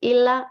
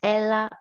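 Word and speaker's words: έλα: like i told you it's not a me it's not illa it's ella and means come and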